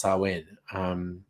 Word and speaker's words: Samhain: different to english so in english it looks like samhain but it's actually pronounced sarwin it's like yeah yeah